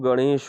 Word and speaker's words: गणेश: देखे यह है कि सही उच्चारण जो है वह गणेश का यह गणेश लेकिन अक्सर लोग इसको